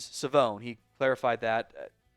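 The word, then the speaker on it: Shavon: It is Savone Revel. Savone, not Siobhan. It is Savone.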